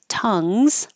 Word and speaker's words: tongues: between tongues and tongs tongues and your mouth have the uh vowel like up so keep your tongue